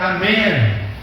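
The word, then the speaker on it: אמן: Então, assim, no hebraico termina com N, é Amém.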